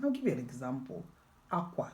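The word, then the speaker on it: akwa: So in Igbo language, tone and accents matter, but most importantly, context. Igbo is famous for having one word spelled the same way, but used differently and meaning different things.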